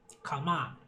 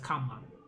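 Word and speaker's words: Camlann: Kalman. Or, Kamlan, sorry. Okay, Kamlan, sorry. I've been saying it wrong, I believe. I've been saying, Kalman, but it's Kamlan.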